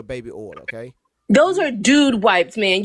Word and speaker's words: Dude Wipes: This is when you use these doo-doo wipes to get a baby oil. Okay. Those are dude wipes, man. You can't pronounce. It's dude. They're dude wipes.